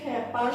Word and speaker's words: খেপা: তাহলে খেপ ধাতুর সঙ্গে আ প্রত্যয় যুক্ত হয়ে গঠিত হয়েছে খেপা শব্দটি, সেই কারণে এই খেপা শব্দের একারের মতো উচ্চারিত হবে, খেপা।